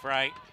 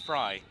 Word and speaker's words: Frey: But Maddie Frey on the uh sorry, Maddie Fry. She's uh she's she's given us some tips on how to pronounce her name. She said it's Fry, so we'll we'll go with Fry.